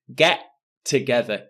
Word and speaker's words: get together: pronunciation for get together notice there is only one t sound I don't say get together get together one t sound get together get together and next